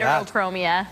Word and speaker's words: heterochromia: Heterochromia.